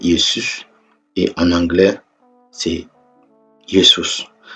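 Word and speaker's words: Iesus: retirer le haut mais ils ont maintenu la même prononciation yesous en c'estous en latin c'est yesus et en anglais c'est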